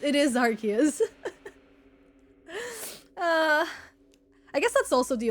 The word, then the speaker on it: Arceus: It's pronounced Arceus. Okay, if the TTS says Arceus, it is Arceus.